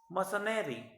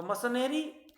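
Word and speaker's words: mercenary: मसनरी, सो मसनरी, मसनरी और मसनरी both pronunciation are correct. So मर्सनरी क्या, कौन होता है?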